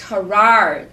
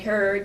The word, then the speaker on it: Herard: And it's Herard. Okay. Herard. I know many people call it Herd, but it's not. Okay.